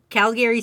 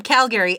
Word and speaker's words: Calgary: as a person from Calgary and I know I say it weird because most calgarians say Calgary like Calgary they don't say the other a they're like Calgary that's